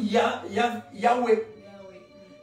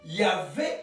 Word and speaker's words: Yahweh: L'ancienne prononciation, c'était OUE. L'ancienne. À l'époque de Moïse, c'était OUE. Il ne prononçait pas. Voilà, c'est pourquoi on dit Yahweh. Yahvé, c'est une prononciation plus récente. Parce qu'on dit V. Mais avant, c'était OUE.